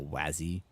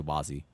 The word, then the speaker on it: Wazi: phonetic except for the wasy part which is pronounced like was some people say like wazy or wazzy. I don't know. know it's like it's up to you I guess. Some people a lot of people say Wazy because that is just how it naturally is